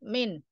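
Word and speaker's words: مِن: Seperti min juga min. Bukan menyebutnya mim nun. Seperti itu disebut min.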